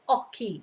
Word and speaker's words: hockey: nice easy sport el aki so we just don't pronounce the h eloki so of course